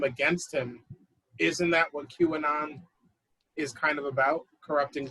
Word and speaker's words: QAnon: you said that because i've been mispronouncing it in my head this whole time luckily i've never said it out loud but i've been pronouncing it like a character in the show power like 50 cents character yeah exactly exactly yeah i've been pronouncing it kanan um actually that's a